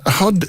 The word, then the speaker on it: hod: what is a bunch HUD is it's spelt hard Oh Judy but it's HUD HUD is what you put bricks in oh no HOD carrier